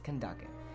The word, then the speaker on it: Kandake: I keep calling her Candace. It's Kandake. At least that's the most common pronunciation in the area that Sumer is based on.